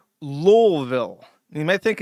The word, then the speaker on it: Louisville: Lolville. You might think it's Lewisville. You might think it's even Louisville. Lulville. There is a secret hidden L in that word that you must pronounce otherwise you out yourself